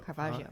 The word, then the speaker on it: Caravaggio: Is it Caravaggio? Caravaggio.